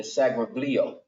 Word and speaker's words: Seraglio: Is that how you pronounce it? The Seraglio.